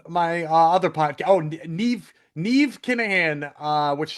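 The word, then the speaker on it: Niamh: Oh, Neve. Nev Kahan. Uh which sounds like Steve. Neve sounds like Steve.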